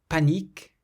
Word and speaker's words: panique: in the text that have a vowel with an N or an M, but then they're followed by another vowel. This means that there's no nasal sound. We had une, meaning a. Panique, panique, means panic.